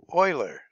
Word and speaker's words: Euler: think it be pretty nuts differently but it's pronounced Euler now for number three you're going to need